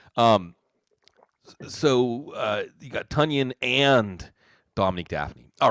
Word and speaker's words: Tonyan: tunyan by the way tanyan rhymes with bunyan uh see someone i